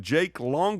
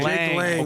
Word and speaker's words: Jake Lang: Is it Jake Long or Jake Lang? Jake Lang. Okay, Jake Lang.